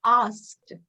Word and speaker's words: asked: asked so many people no it's always asked you always pronounce the s before the k so we have to